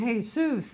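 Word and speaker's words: Jesús: and Jesus Manalo and Jesus you don't pronounce the J where is there a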